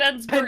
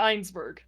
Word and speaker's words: Ensberg: It's Ensberg, not Einsberg.